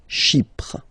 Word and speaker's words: Chypre: So remember, we've got this Y letter here, but then phonetically when you pronounce it, it's like I, okay? Chypre.